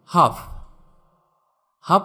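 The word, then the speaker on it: half: Silent L, যেমন হাফ মানে অর্ধেক।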